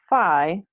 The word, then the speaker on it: phi: outwards, theta, which shoots around the sphere, and phi, or phi, sometimes pronounced, which starts at the top of the